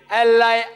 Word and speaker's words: Allah: a new pronounce it we have to tell them pronounce it as Allah